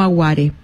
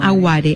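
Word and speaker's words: aware: un montón que es el mono no aguar perdón no no no no agüere así como lo digo se pronuncia y el mono no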